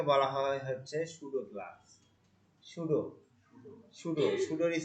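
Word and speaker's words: pseudo: সুডোর spelling হবে এরকম, PSUDO, সুডো, PSUDO, পির উচ্চারণ আসবে না।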